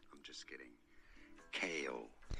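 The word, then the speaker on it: Chaol: in Throne of Glass Chow I'm just kidding kale is how you say Kale like the vegetable that was not that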